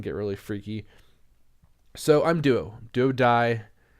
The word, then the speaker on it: DuoDai: So I'm DuoDai, spelled DAI. It drives me insane when people spell it. DuoDai.